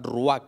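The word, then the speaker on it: רוּחַ: en el hebreo significa la palabra rúa que así se pronuncia rúa que significa soplo aliento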